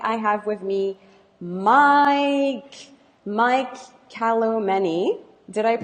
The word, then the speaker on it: Kalomeni: I have with me Mike Kalomeni. Did I Yeah.